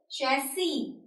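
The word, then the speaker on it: chassis: जो प्रोनंसिएशन है इस वर्ड की इट इज शसी शसी इट इज श सी ओके कमिंग ू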